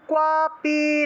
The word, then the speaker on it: ক্বাপি: ভয়ম ক্বাপি ন জায়তে। ভয়ম ক্বাপি ন জায়তে। হ্যাঁ, এই যে কুয়াপিটা আছে না, এটা একসাথে বলতে হবে, কারণ কয়ের নিচে বফলা থাকলে কুয়ো উচ্চারণ হয়, কুয়ো।